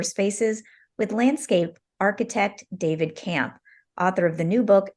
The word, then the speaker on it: Kamp: designs for outdoor spaces with landscape architect David Camp author of the new book nature design and